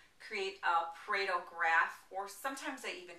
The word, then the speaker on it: Pareto: a Paro graph or sometimes they even call it a